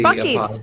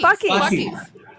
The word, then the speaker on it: Buc-ee's: How do you pronounce B U C Buck-ee's. That's Buck-ee's. Oh, that's Buck-ee's.